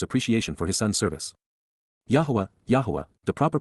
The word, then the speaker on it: Yahweh: of his father's appreciation for his son's service Yahweh Yahweh the proper pronunciation of the name of eloah God as